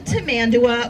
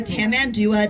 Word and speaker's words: tamandua: he is an anteater, also known as a tamandua or a tamandua, depending on how you want to pronounce it.